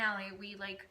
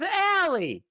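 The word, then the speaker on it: Ale: it to Danny and Allie, we made it so. It's Allie. That's how you say her name, Allie.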